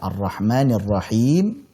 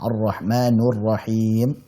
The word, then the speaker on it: Ar-Rahmanir Rahim: Ya, sebagaimana yang kita ketahui dalam surat Al-Fatihah, di situ pada kata Ar-Rahmanir Rahim itu dibacanya dengan kasrah. Tidak ada riwayat maupun qiraat dimanapun itu yang membaca dengan dhammah. Ar-Rahmanur Rahim, tidak ada.